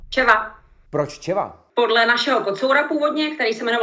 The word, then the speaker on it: Czeva: So not Cheva, but Czeva.